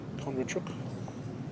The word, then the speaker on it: Kondrachuk: Kondrachuk, I would pronounce that. How would you pronounce this? Kondrachuk, yes, that's correct.